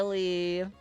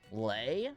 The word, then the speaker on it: Lee: I'm almost positive I have, but your name is Lee like B. How did people pronounce it before? Lei, I guess. Yeah. Okay. and still happens. They're like lay like be.